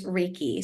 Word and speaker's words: Reiki: have misconceptions about what this is but it's Reiki so REI so Ray and then key Ki